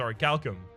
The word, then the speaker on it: Orichalcum: I have been corrected about how to pronounce that. It's Orichalcum.